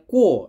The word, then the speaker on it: KUOE: ya guys ini namanya ku ya k u o e dibacanya ku ini jam e dari Kyoto